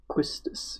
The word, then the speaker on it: Quistis: whole romantic thing quistis Elias does for him quistis yes that is how you say that pretty